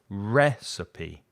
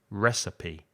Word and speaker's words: recipe: so receipt receipt and recipe has three syllables recipe recipe ratheta is recipe i